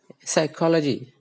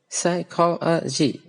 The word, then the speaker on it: psychology: level okay for example take the word psychology psychology the call is or on a higher volume and the other parts are on the lower volume so psychology that so